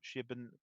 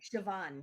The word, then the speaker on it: Siobhan: One from and I can't pronounce Irish names. Shibin Carroll, please help me out. Siobhan Carroll. Shiobun Carroll. No, Siobhan.